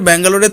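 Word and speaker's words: Bengaluru: বছরের যাত্রায় ফাইনাল জিততে পারেনি কোহলিরা রয়েল চ্যালেঞ্জার ব্যাঙ্গালুরের থেকে কেবল ব্যাঙ্গালুরু শব্দটা বাদ পড়লো তবে শুধু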